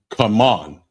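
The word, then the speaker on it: כמון: Cumin, and it's pronounced come on.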